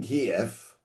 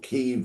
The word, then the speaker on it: Kyiv: Now Jews had lived in Kiev or Kyiv, whichever way you wish to pronounce it, and established their